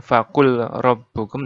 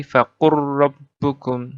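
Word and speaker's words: فَقُل رَّبُّكُمْ: Jadi bukan faqul rabbukum, tapi faqur rabbukum.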